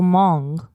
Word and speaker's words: Hmong: about H mo ang but the H is silent MA so Hmong yeah you actually said